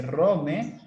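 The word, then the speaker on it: ῥώμη: la fuerza bruta, que en griego se pronuncia o se dice rome, y a la erudición, que para ellos va a ser superficial.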